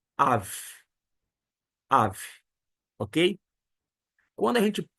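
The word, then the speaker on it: אב: deve estar se perguntando não é aba aba é pai em aramaico em hebraico é Av Av Ok quando a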